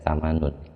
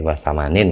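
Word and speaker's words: وثمانٍ: Kalau dianggap insya Allah samanin tadi saya keliru bacanya. Berarti wasamanin gitu. Dianggap isim mangkus.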